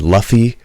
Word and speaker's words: Luffy: uh is that like they made luffy rhyme with puffy uh zorro zorro's name